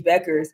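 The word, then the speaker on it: Bueckers: only do they have paig Paige buckets Paige Beckers said it right paig buckets you said it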